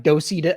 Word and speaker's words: Docebo: So Docebo, like you pronounce it like Docido. I mean, you see it like Docebo, but it's really, they're Italian. Yeah. I always called it they're Docebo. Italian, so it's Docebo.